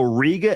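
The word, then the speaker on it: Riega: just so people know Ria is spelled r i e g a again r i e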